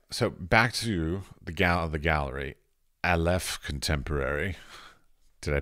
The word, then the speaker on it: Aleph: All right, so back to the gallery, Aleph Contemporary. Did I pronounce it correctly?